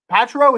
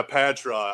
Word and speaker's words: Patra: your last name yeah patra i don't i really i don't i don't ding anyone for saying it wrong because it's patra patara patrol paid true like no one gets it right i'm just like you